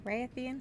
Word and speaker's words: Rathian: The Rathian? The Rathian? Put that emphasis hard on the Ra.